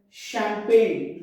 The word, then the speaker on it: champagne: In silent G, you don't have to pronounce G letter, like foreign, champagne. We should say champagne, sign, fail. Foreign, champagne, sign, and fail.